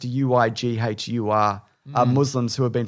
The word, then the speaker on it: Uighur: i looked it up i think it's we gores but it's pronounced uighur uh muslims who have